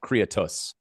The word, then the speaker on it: Creatus: Play it's Creatus. Is it? Yeah, you put the emphasis on the wrong sal.